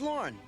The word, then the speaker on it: Lorne: Name's Lorne. That's easy to remember. Rhymes with corn.